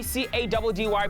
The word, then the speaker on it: Caddy: Running the streets of Gauteng, it's your boy C-A-D-D-Y, pronounced Caddy, City Touchdown SCDB Mwapetu.